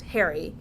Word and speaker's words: Hari: isabelle hurry but not it's not harry it's not hari he harry he likes to it to be pronounced harry um which i can't